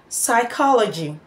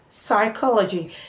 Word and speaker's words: psychology: at these two words psychology psychology now the P there the letter P there is silent now let's look at